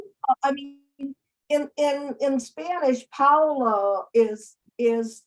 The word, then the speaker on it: Paola: so and by the way my name is Paula but call me Paula because I'm Italian I was born in Italy